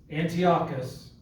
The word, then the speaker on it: Antiochus: the angel tells him and i'm assuming it's anti-cross antichrist is that the way you pronounce him yes antiochus was an evil king yes at the time